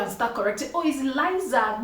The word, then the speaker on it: Lisa: When we did find out the correct pronunciation was Liza and not Liisa, the market was already saying Lisa Express.